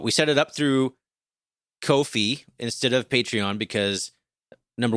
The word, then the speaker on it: Ko-fi: But it's through Ko-fi, which is Ko-fi.